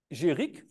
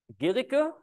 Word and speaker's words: Guericke: And because, as far as I understood French, if you would just have the E, then it would be called Géric. And so he still wanted to be pronounced Guericke. And so they introduced this U so that it's still called still pronounced Guericke.